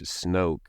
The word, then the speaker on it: Snoke: And I can't help but see the coincidence in which Snoke rhymes with smoke because he had a smoke monster that basically they never fully explained anything about that.